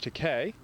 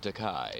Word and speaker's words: Takei: einstein and that but it's pronounced like in spanish e is given the